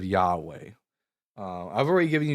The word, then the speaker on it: Yahweh: So, how do we get how did some people get the name Yahwh? um instead of Yahweh.